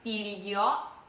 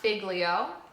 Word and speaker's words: figlio: For examples we have filio. So this is not figlio. This is f i g l io. Filio.